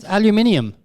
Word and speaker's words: aluminium: that's like aluminum that's one of your made up american pronunciations aluminum is there a different pronunciation aluminium are you kidding i'm not kidding look how it's spelled it does have an iu yes it does is